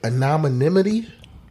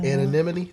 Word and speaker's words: anonymity: people en the um if I'm saying this word right anonimity anonymity anonymity anonymity that's how you pronounce it all right um well